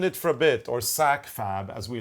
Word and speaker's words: SAKFAB: It's from Sit in It for a Bit, or SAKFAB, as we like to abbreviate it, SAKFAB. And SAKFAB rhymes with AbFab, which is my favorite British show.